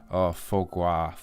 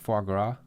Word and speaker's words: foie gras: This one is foie gras. How do you pronounce it?